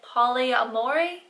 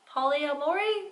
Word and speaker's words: polyamory: to young conventional life styles such as Poli Poli amore polyamory is it's pronounced simply where you have more than one